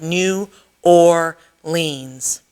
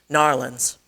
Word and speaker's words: New Orleans: He said every syllable, drawing them out so it sounded like New Orleans, instead of the one-syllable word her classmates used, Narlands.